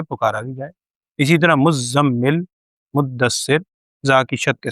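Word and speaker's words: مُزَّمِّل: مدثر۔ یہ مدثر اور مزمل نہیں ہے لفظ، کیونکہ آپ دیکھیں زا کے اوپر شد ہے، یہ مزمل نہیں ہے بلکہ مزمل، زا کو سختی سے ادا کریں گے، مزمل مدثر۔ تو نام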